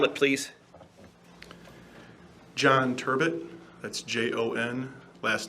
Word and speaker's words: Turbett: and have a seat state your name and spell it please john turbot that's j-o-n last name is turbot t-u-r-b-e-t-t go ahead council so what area sir